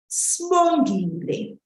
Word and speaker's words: Sbongile: And what you'll normally hear is Sbongile, that we would have dropped that first I after the S. Sbongile.